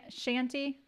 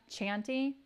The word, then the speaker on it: shanty: I always grew up thinking it was chanty. That's how it's pronounced. Because I was like, well, it's like a chant, you know, like a chanty. But then everyone's calling it a shanty, and it really